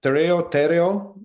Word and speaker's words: Tereo: Tereo, did I pronounce that correctly? Yep, Tereo, either.